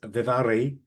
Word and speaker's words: Vidaurri: If you think I've mispronounced her surname, I haven't. It's Basque and I got it right, but there is a D in there, but it turns into a V if you're speaking in proper Basque language.